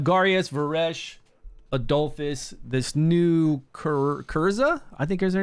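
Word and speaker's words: Kyrza: So I have Garius, Varesh, Adolphus, this new Kurza, I think is her name. Kurza? Something like that. I think her name is spelled K-Y-R-Z-A.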